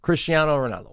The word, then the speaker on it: Cristiano Ronaldo: you say his name Christian Ronaldo Ronaldo yeah Cristiano Ronaldo one of the greatest plays of all time